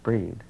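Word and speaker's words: Brigid: this piece is called bridget pronounced breed and bridget or breed is an ancient red-headed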